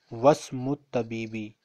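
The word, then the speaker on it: وَاسْمُ الطَّبِيبِ: So whenever we have this symbol and before this symbol, if we have an alphabet, we ignore alif. So I will pronounce wasmut tabibi.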